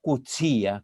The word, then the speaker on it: Coetzee: Coetzee, o Coetzee, como se debe pronunciar, pero a mí me cuesta incorporar esta expresión, es más simple.